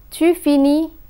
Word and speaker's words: finis: We find that je finis, tu finis, il finit, and elle finit have the same pronunciation. the final letters are not pronounced.